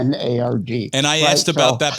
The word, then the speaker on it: Lenard: important to throw in there's no O in Lenard. It's Lenard.